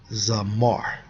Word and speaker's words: zamar: Strong's H2167 pronounced as Zamar.